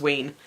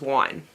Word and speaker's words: Wein: I've always thought it was Wein, and I've heard a lot of people pronounce it as Wein. But during the audiobook, the narrator pronounced it as Wine.